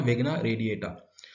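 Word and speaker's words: Vigna radiata: अच्छा, मैंने पहले की क्रॉप्स के शायद नहीं बनाए, तो इसका प्रोनाउंसिएशन है विग्ना रेडिएटा।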